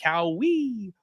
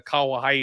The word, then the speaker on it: Kauê: You have got Guram Kutateladze taking on Kauê Fernandes. And yes, it is pronounced Kauê Fernandes as opposed to Kauai, who I thought I was trying to say the first time.